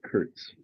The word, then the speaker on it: Kurtz: You've got Curts. Yeah. Oddly and ironically, Gambit, it's pronounced the same way. I wouldn't say Kurts. I would say Curts still. Well, it's pronounced Kurtz if you speak German. A thanks, Emanuel.